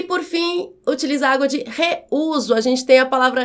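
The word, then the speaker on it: reúso: Vamos separar as sílabas da palavra reuso. Reuso. Aqui eu tenho um iato porque eu tenho duas vogais, o e o u, que quando na separação de sílabas, essas vogais ficam em sílabas separadas e o u é tônico, é forte, deve receber, portanto, acento agudo.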